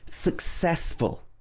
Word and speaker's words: successful: Number 13, successful. Successful. A lot of people will say successful or successful. It should be successful, stressing the ses.